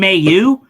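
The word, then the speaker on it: Mailloux: I call him Mayu. Because Mayu is it's like male you, but instead of saying male you, like where you really pronunciate the male, I just say Mayu because that's like I feel like that's the Quebec way of saying it.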